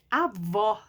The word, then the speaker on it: avó: O acento agudo, ele é aberto. Avó. O som do acento agudo deixa a palavra, é como se a palavra ficasse aberta, ó, avó. A segunda aqui está com acento circunflexo. O som dele é fechado, ó. Avô. Então, agudo, avó. Circunflexo, avô. Tá vendo? Avó aberto, avô fechado. Então, olha que coisa mais interessante.